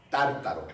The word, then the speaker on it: tártaros: decir lugar de castigo tártaros con acento en la primera pedro usa la palabra